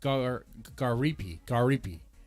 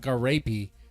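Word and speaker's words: Gariépy: Garipi. Not Garapi. Garipi. JF Garapi. Oh, I just said it right there. It's French.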